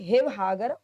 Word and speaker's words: शिवसागर: इसीलिए शिवसागर भी हिवहागर उच्चारित होता है। असम में जो शिवसागर है उसको हिवहागर बोलते हैं। क्यों? क्योंकि वहां पर स को से का उच्चारण है के रूप में होता है।